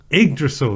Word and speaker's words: Yggdrasil: Yggdrasil, that's right.